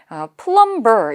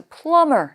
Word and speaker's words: plumber: 근데 발음을 하실 때 plumber 이렇게 읽으시면 안 돼요, 여러분. B는 묵음, 발음을 하지 않습니다. 따라서 plumber 이렇게 읽어주셔야 되겠고요.